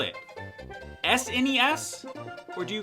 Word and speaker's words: SNES: off my lawn but I can't call it SNES I have to call